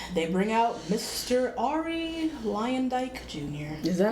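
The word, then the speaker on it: Luyendyk: Ari Lyondike Jr.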